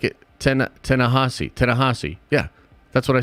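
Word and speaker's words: Ta-Nehisi: Ta-na-he-si Coates. Yeah, pronounced just like it. Tanahasi.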